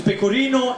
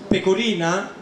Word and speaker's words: pecorino: Just be careful when you pronounce that, because pecorino is the cheese. Pecorina, it means doggy style.